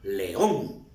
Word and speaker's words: león: Por ejemplo, león. León tiene la fuerza de voz en on, pero aquí va con la tilde.